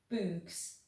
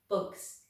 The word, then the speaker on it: bugs: "Bugs," he said. "Good," said Stanley. "Remember, it's a short U if there's no E at the end.